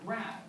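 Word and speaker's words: grave: Or rather, grav, as it would have been pronounced in the original French.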